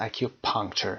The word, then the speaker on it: acupuncture: اکیوپانکچر که میدونید اون سیستم چینی هست که در انتها آمده، طب سوزنی هست. اکیوپانکچر قسمت اول ا استرس میگیره، اکیوپانکچر.